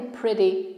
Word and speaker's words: pretty: Tutaj mamy flap T, double T, wymawiane bardziej jak ry. Pretty. D połączone z ry.